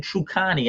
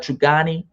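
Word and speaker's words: Truganini: last tre uh tasmanian true connie i believe her name is it's spelled t-r-u-g-a-n-n-i i believe i don't know if i'm pronouncing the right trigani that was the last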